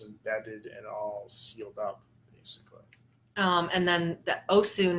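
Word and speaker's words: Osun: and all and then Oh soon is not to be confused with Oshun but it's spelt o s UN yeah so that is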